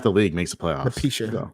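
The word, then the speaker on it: Napheesa: Patricia. How you pronounce it? Yeah. Napricia? Okay. That's what I thought it was. You know. Oh. Napisha.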